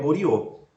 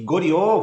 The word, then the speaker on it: Goryeo: E Goryeo vai ser o nome no qual vai depois inspirar, né, vão evocar o nome Goryeo, na pronúncia ocidentalizada vai ser Coreia, né? Coreia.